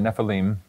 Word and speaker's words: Nephilim: the way you pronounce it yep that's right neim and if you pronounce it that way it's got to be